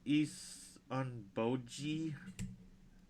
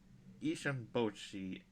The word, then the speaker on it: Issunboshi: You said your name was Isan Boji. Isan Boi actually, but you were close.